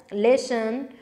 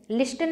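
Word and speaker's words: listen: इसी में से डिटेल्स, लेसन, लिसन, लिस्टन नहीं पढ़ते हैं कभी भी, टी साइलेंट है, एंड लिंग्विस्टिक, चलिए गाइस फटाफट से आंसर करते रहेंगे।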